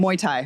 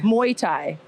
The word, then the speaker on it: Muay Thai: Am I saying it wrong? How do you say it? Muay Thai. Muay Thai.